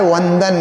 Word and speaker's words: वंदन: व से उच्चारण होता है वंदन।